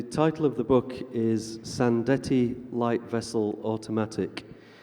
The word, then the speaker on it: Sandettie: does this name mean and how do we pronounce it so the title of the book is sand Ettie light vessel automatic it's the name of a